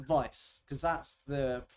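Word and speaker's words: Weiss: people pronounce it like Vice because that's the it's a German word that's the proper way to pronounce it but I I always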